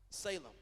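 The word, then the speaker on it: צלם: image the Hebrew word for image here is pronounced Salem it's literally talks about shadowing outline or a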